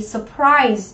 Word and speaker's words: surprise: Surprise, đúng không? Trọng âm của từ này sẽ rơi vào âm tiết thứ 2.